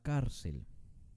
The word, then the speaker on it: cárcel: y veamos un ejemplo la palabra cárcel no decimos cárcel recuerden que te debemos de practicar la sílaba tónica es la más importante para poder en saber qué tipo de palabra es esta es una palabra grave porque el énfasis está en la penúltima no es cárcel es